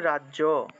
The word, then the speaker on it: রাজ্য: তাহলে মনে করেন যে রাজ্য বাংলায় বললে তো আমরা রাজ্য বলে থাকি রাজ্য বর্গীয় জয়ের সাথে জফলা আছে তাহলে জফলার পরিবর্তে ইয় উচ্চারণটা আসবে ঠিক আছে তাহলে এই ক্ষেত্রে আমরা এই জফলার পরিবর্তে ই এবং অ ব্যবহার করতে পারি তাহলে রাজ রাজ হসন্ত দিয়ে তারপরে ইয় রাজিয়া অর্থাৎ জফল এর পরিবর্তে আমরা ইয় উচ্চারণটা করব ইয় ইয় উচ্চারণ করতে হবে তাহলে রাজিয়া রাজিয়া এভাবে উচ্চারণটা আসবে অথবা চাইলে আপনারা এই